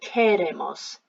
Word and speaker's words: queremos: the beginning, quiero, quieres, and without the I it's a que kind of sound, so queremos, almost like you're saying care, as in I care for someone, so queremos, queréis.